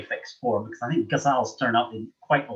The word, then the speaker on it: ghazal: I always get worried because I never quite know how to pronounce this word because one is told so many different pronunciations. But ghazal, I think Mimi, that's what you said, and I take that as fairly authoritative.